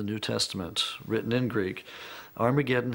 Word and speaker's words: Armageddon: And indeed, in some of the earliest versions of the New Testament, written in Greek, Armageddon has an aspirant at the beginning, meaning it's pronounced with an H.